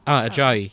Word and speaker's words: Ajayi: Is it Ajay? How should I be pronouncing that? Is that Mr. Ajayi? Mm-hmm. Ajayi. Yeah, that makes more sense.